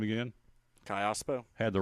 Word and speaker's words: Callaspo: Calaspo, is that how you say it? Oh, Callaspo.